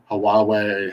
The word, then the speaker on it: Huawei: can none of us really know how it's pronounced we said hawaii huawei hallway highway none of us really know how